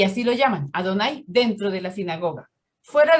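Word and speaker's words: Adonai: nombre impronunciable dijeron que es adonay en la sinagoga adonay no a dónde y así lo llaman adonay dentro de la sinagoga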